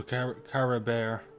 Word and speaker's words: Caribert: least I still have Cory bear so Kara Bear as they pronounce it that's good to know